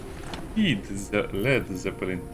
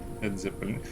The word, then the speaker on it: Led Zeppelin: Lead Zeppelin. Led Zeppelin. Yeah, you get the reference. Probably get that reference. It's a music band, the Led Zeppelin. It's Led Zeppelin. That's why I was trying to pronounce it in such a way where it's more obvious.